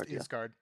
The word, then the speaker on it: Asgard: Uh well, uh we do not have Valhalla, but we do have Asgard, but it's pronounced Isgard.